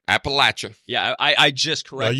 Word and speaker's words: Appalachia: and they'd be like I can't say it like that try just say throw an Apple at you there you throw an